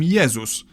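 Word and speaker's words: Jezus: In Polish, we call him Yesus. But if we were to pronounce his name the English way, we'd write it down as Jesus.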